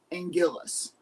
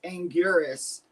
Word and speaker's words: Anguirus: So, I used to love the pronunciation of Angillis. Um, that's what I grew up knowing him as. But when Toho officially came out and was like, "No, it's Angurus."